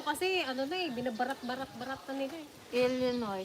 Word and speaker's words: Illinois: Illinois, silent Illinois. Silent S nga. Illinois. Illinois, silent S pa yan.